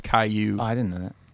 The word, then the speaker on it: Caillou: so but haiku kallu snail but it's cash pronounced Caillou I didn't know that it's just like Dora's